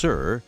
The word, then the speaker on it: CIR: The Combustion Integrated Rack, or CIR (pronounced sir), in the Destiny laboratory